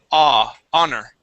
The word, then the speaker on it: honor: Okay, and this word here, the H is silent. So instead of saying honor, it is honor.